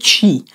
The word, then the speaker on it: Qi: par induction magnétique nommé çi ça s'écrit qi et cette technologie est